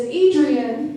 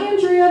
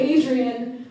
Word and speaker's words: Adrien: of all again is Adrien not Andrea not Andrea not Audrey Adrian rhymes with Damian the child Antichrist from the 1976 War